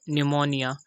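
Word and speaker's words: pneumonia: this लड़े बाय तो पहले एग्जांपल है हमारे पास निमोनिया तो हम देख सकते हैं की एन से पहले पी ए गया तो हमने इसको साइलेंट कर दिया सेकंड एग्जांपल है हमारे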